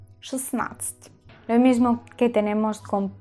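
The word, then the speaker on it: шестнадцать: La D en esta situación desaparece. Yo no digo snatch, ni siquiera suena la D.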